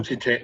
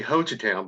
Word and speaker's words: Hochatown: First of all, is that how you pronounce the name of the town? Hochatown. Hochatown. Yes, say Hochatown, because if you don't, you say it differently, everyone up here will know you're a tourist.